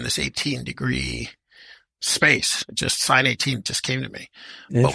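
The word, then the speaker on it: Sine 18: there Etc yeah so first sin 18 is spelled s i n e for the engineers out there like s cosine so s 18 people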